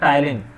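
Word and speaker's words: ptyalin: एक और नाम मिलेगा, टाइलिन, पी साइलेंट होता है टाइलिन, तीनों एक ही चीज के नाम है, अमाइलेज, सलाइवरी अमाइलेज, टाइलिन।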